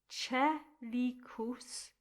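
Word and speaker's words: coelicus: Dat, panis, which you've already had, and then a word with three syllables, chelicus. So the C-O-E becomes che, like the word chess. Chelicus.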